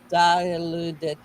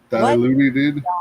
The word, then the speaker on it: Dilaudid: How do you pronounce that? Diluted. Diluted.